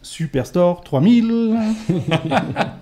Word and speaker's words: Superstore 3000: Il faut savoir qu'en fait, ça se prononce Superstore 3000, et c'est super important.